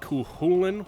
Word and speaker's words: Cú Chulainn: For example, Cú Chulainn seems to be the most popular way to pronounce his name, so that's the one I'm going to be going with. But other pronunciations like Cú Chulainn with more of an H sound I also ran into.